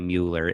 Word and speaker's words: Mueller: to Mueller calm I pronounce it Miller but Mueller mue ller and I